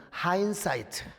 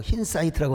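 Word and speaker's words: hindsight: 하느냐면은 뭐 인사이트라고도 하지만은 하인사이트. 이런 되어진 일을 올해 딱 그냥 교수들이 이게 이제 과거에 있었던 일을 간파하고 분석하는 걸 영어로 하인사이트. 어떤 사람은 또 발음이 안 돼 갖고 흰사이트라고 하는데 하인사이트입니다, 여러분.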